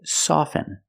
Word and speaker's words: soften: words soften and often with both words I don't pronounce the T I say soften and I say often but sometimes you'll hear people say often and it's not wrong it's okay people say both often and often I prefer soften now